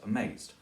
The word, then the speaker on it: amazed: especially with past participles take a word like amazed then Shakespeare when he used that usually used it as two syllables amazed but when he needed to fill out the meter he turned it into three syllables twice B or C